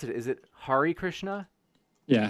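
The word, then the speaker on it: Hare Krishna: Christian but they found out how do I pronounce it is it Hari Krishna yeah Hari Krishna there was actually one dude that found a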